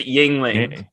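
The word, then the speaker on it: Yuengling: like i said like yingling yingling you're adding an extra syllable just yingling i feel like i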